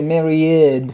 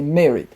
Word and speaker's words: married: So when we speak about married, we shouldn't say married, right? But we shall say married. Married.